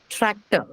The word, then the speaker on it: tractor: Tractor, tractor. Two syllables now. How many syllables in tractor? Two syllables. Hmm? Two syllables. Two syllables, right? Two syllables, yes. And what takes the stress? First syllable.